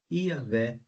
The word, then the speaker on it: Iavé: uma pronúncia mais adequada então a mais provável seria realmente yavé veja agora então o nome novamente agora sem as minhas marcações então novamente você tem o yud o iud Na verdade o rei o vav e o rei então na leitura ficaria iavé Essa é a melhor pronúncia do tetragrama Sagrado muito bem então continuando